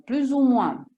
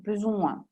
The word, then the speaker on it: plus ou moins: Oppure più o meno, plus ou moins, la S qua si attacca alla O di U, plus ou moins.